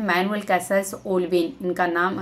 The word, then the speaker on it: Castells: देता है यहां पे जैसे कि इसमें केस्टल्स करके है तो इसमें टी साइलेंट होता है लेकिन जो ट्रांसलेट करते